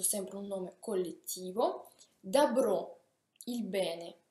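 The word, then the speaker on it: добро: Dabro, il bene, dabro. Anche qui si scrive dobro, ma si pronuncia dabro, il bene.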